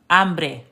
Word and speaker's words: hambre: So I want y'all to know something, that the H is silent. So why don't you just look at this H and then imagine it being crossed out. Look at this H and imagine it being crossed out. Look at this H and imagine it being crossed out. And then all you're pronouncing is the rest of the word. The H in Spanish is indeed silent.